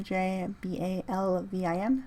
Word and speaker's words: J Balvin: J Balvin. So J, like the letter J, Balvin.